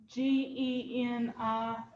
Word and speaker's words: Genially: Spell it. Genially.